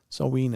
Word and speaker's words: Samhain: um you have some sort of mine Ramone um full Moonlight uh sawing Eve or Samhain so we soween is how it's pronounced I know that little